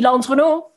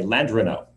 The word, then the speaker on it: Landrenot: So, Landrenot, over to you. I like the way you say my name, Natasha. That's how people in France would say it. In Louisiana, we just say Landrenot.